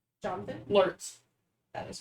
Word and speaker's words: Lurtz: It starts with the L, and it's just one syllable. Jonathan? Lurtz. That is correct. Lurtz is 2 symbols.